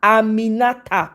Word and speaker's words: Aminata: Aminata, please don't be. Nigerians, you people like to mispronounce other people's names if they don't come from within your geographical location. Get it right. Aminata. Okay, we say it with power.